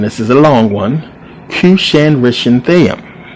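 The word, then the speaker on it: Cushan-rishathaim: is a long one cusan renam this is how you pronounce it believe it or not kushan renam who's the king of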